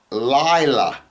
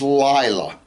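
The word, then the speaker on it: לילה: the darkness he called Lila, night. And there was evening and there was morning, day 1. The word for night is Lila, okay? And it's spelled Lamed, Yod, Lamed, Hey, right?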